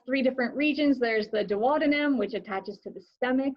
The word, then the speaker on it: duodenum: that first section um by the way duodenum also sometimes pronounced duodenum both you can pronounce whatever you want um the small intestine